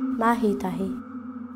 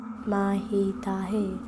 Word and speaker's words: Mahitahi: The spelling is the same, Maitai, but as I said, over time it's devolved, you know, take out the H, it's become Maitai. And that's how people have started to pronounce it.